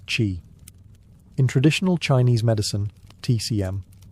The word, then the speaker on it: qi: the flow of energy, or qi, pronounced qi.